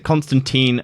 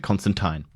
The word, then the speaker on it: Constantine: apparently which is shame British pronounce it Constantine Americans to Constantine okay so your name's